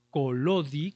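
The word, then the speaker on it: Collodi: y que incluso en su en la ciudad en que nació, que se llama precisamente Colodi, que se escribe coyodi, él como escritor quiso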